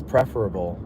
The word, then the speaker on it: preferable: Kevin says you can use either pronunciation, Bill, but preferable, short E, or preferable seems more common.